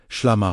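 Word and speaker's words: ܫܠܡܐ: They understood SHLAMA, pronounced SHLAMA, wholeness, completeness, harmony with God, not as passive tranquility, but as the active restoration of creation itself.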